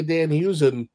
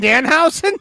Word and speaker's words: Danhausen: Did you say Dan Hughes? you can't. Do you mean Danhausen? Because is that how you say it? I don't know, and I don't care. So that's how I say it.